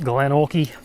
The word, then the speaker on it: Glenorchy: Anyways, yeah, so we also got to ride Glenorchy, as I now know it's meant to be pronounced Glenorchy.